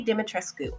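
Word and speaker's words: Dimitrescu: game it's lady demetris but if it's in traditional romanian lady dimitrisku that's how you say it i think so this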